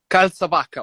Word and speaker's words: Calzavacca: Is it Calzavacca? Calzavacca, almost, but that was almost perfect.